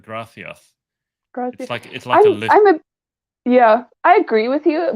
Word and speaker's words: gracias: isn't it gratif the the spanish pronounce it with that unusual it's not gracias it's like grathioth yeah i agree with